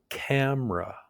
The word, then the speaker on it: camera: Camera. You hear the schwa sound in that second syllable.